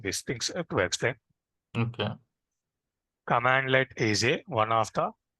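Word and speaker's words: cmdlet: We need to pronounce it like commandlet.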